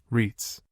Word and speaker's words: REIT: You may also wish to consider ownership of commercial real estate through the medium of real estate investment trusts, REITs, pronounced REITs.